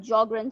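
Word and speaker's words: Sjögren: in uh in in jogren's syndrome okay what is geogram syndrome the s is silent okay so it's it's called jogger and syndrome so in jogging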